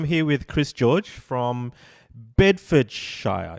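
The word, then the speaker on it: Bedfordshire: with chris george from bedford shire is that how you pronounce it you could say it like that that's for sure it's the way we bid for cheer east of england east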